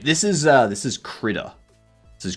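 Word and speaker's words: Krita: This is uh this is Critter. This is Critter.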